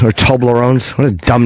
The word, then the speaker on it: Toblerone: Less Toblerone.